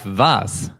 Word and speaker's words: was: is that is who and then we have vas was that is what and the next is